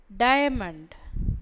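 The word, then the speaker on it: diamond: டயமண்ட் டயமண்ட், இந்த டைக்கு அப்புறம் இந்த ஆ ஒலி உச்சரிப்பில் வரணும்.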